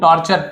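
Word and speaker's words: torture: डिड एनी माई मैन टॉर्चर यू, टॉर्चर TUR को चर पढ़ा जाता है, फ्यूचर, नेचर है ना, मॉइस्चर, तो डिड एनी ऑफ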